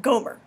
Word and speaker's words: Gomer: wife he took was named Gomer orgo mare if I was her I would have preferred the pronunciation Gomer actually I would have